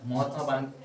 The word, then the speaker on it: মহাত্মা: মহাত্মা গান্ধী। তাহলে এখানে বলেছে হু, কার, কে? Mahatma Gandhi. মা। এই জন্য একদিন বারণ করেছিলাম মহাত্মা বারণ বলো।